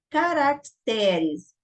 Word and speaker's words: caracteres: Então, aqui na Nobel, nós temos oxítonas, caracteres. Nós temos uma paroxítona, né? Porque o T é o mais, a sílaba mais forte, caracteres.